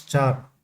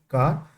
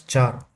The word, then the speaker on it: char: Character a char a equal to usually it is pronounced as char. Okay. Some some some of few people will pronounce it like car. It is pronounced as char data.